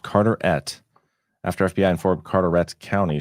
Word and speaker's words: Carteret: That's my county. Pronounced Carterette.